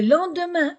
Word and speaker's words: lendemain: de faire les questions on va faire attention à la prononciation le petit déjeuner le petit déjeuner le lendemain e n le lendemain a i n le lendemain matin i n le lendemain matin après